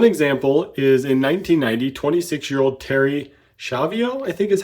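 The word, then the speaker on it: Terri Schiavo: One example is in 1990, 26-year-old Terry Schiavo, I think is how her name is pronounced.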